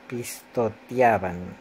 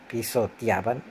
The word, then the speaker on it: pisoteaban: Además de decir despesado, que debería ser dicho despedazado, también hay un punto en donde digo los elefantes pistoteaban, debe ser pisoteaban.